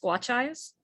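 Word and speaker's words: Skwachàys: And the hotel, it's pronounced Squatcheyes, and it's here in the downtown east side of Vancouver.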